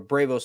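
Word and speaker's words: Braavos: in Bravos trying to or Bravos is how you say it technically uh she's down there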